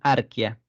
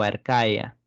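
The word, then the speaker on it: archaea: y acá le pusieron arquia arquia o arcaea arcae es como se pronuncia en realidad El dominio arcae y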